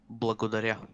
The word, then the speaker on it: Благодаря: Благодаря.